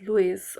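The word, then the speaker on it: loess: So Louie Louis you can uh pronounce it as Louis or Louie or however you may like to pronounce it.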